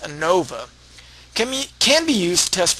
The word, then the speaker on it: ANOVA: Analysis of variance, denoted AN for analysis, O for of, VA for variance, and pronounced ANOVA, can be used to test for the equality of three or more population means.